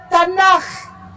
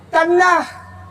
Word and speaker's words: Tanakh: Dibacanya Tanakh. Tanakh.